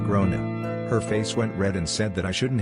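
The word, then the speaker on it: Gráinne: She asked what I meant and I said, "Well, in Ireland, they typically pronounce it like grown."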